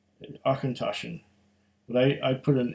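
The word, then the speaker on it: Auchentoshan: akintoshan they're even telling you how to pronounce it uh let it roll off your tongue akhentoshan but i i put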